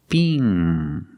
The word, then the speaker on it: Bing: So it's bing. The long E, B, Together, Bing.